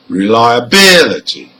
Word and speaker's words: reliability: Now here, for words ending in CY, TY, PHY and GY, the stressed syllable is the third from the end.